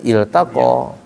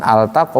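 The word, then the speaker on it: التقى: jaman apa aljaman aljaman tapi kalau kalimat Yaum ditutup dibacanya iltaqo bukan altaqo bukan dia fi'il dalam bahasa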